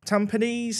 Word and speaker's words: Tampines: Singapore premier league and Tampines t tampones I think is how it's said either way yeah they